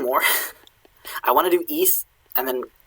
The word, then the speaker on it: íss: i want to do east and then call it a night because it is uh 8 p.m pacific here it just has two s's in old norse it's a long i and both in both